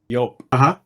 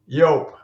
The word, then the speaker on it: Joop: It is pronounced like an American would do when he sees the spelling Y-O-A-P. Joop. Joop, okay?